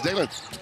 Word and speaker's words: Dalen: Given name Dalen, spelled like Dallin, but it's Dalen.